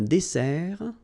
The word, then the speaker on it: dessert: Okay, so remember that we've got here two s. Okay, that's the reason why you pronounce it s, and then it opens the dessert, un dessert. So you don't say un dessert, okay, but you say un dessert. Final T not pronounced.